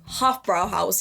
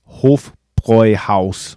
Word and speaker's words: Hofbräuhaus: Usually I hear this word pronounced as Hofbrauhaus here in the US, which granted isn't too far off. In German, the word Hof is pronounced with a long O, and then Bräu is pronounced like this, and you don't need to...